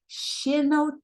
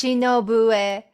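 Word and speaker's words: 篠笛: did you develop an interest in shino to pronounce this actually it's shinobu which is means bamboo flute it's a japanese number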